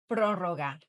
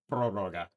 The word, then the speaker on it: prórroga: I can't pronounce this word, so here we have Darcy. You call it prórroga. Prorroga.